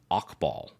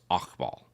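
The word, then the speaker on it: Hakbal: the deck is pronounced okball so it's the H isn't actually pronounced or it's very soft so it's okball is a four Mana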